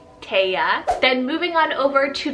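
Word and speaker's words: Taisia: We have Alisa and Taya, which is spelled T-A-I-S-I-A, Taya.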